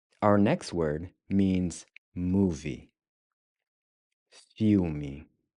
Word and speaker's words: filme: Filme. Filme. Filme. So the IL is pronounced ew. It's like in English when we see something disgusting.